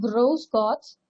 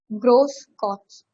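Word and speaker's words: Grüß Gott: So இது வந்து actually it is being pronounced like s. S ஓட pronunciationல வரும், double s ஓட pronunciation. So it's being Grosgots, they say that.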